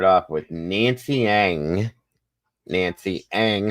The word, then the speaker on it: Ng: Nancy Ang. Her last name is spelled NG.